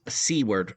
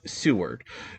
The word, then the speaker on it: Seward: Alaska reach out and say very nicely I pronounced seawword wrong it's Seward and they had said that uh pretty close